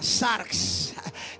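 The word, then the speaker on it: sarx: Diga conmigo, carnales es la palabra griega que se pronuncia sars.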